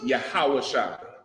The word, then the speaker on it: Yahawashai: Okay, Yeshua is a bastardized pronunciation of his name, right? It really comes from the Jewish man's Yiddish and just, being converted over years. In Hebrew, his name is Yahawashai, right?